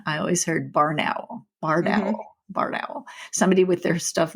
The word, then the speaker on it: barred owl: It's barred because of the bars of color in their wings.